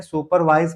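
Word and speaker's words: supervise: सुपरवाइज करना क्या होता है? हालांकि आर साइलेंट हो जाता है तो इसको पढ़ते हैं सुपरवाइज।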